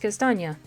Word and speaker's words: Kastanie: Kastanie looks like the word Kastanie, but since it is German, it is pronounced Kastanie.